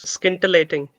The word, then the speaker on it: scintillating: Can you please pronounce this? yes. Scintillating.